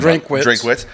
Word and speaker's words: Drinkwitz: Eli Drinkwitz. How do you say his last name? Drinkwitz.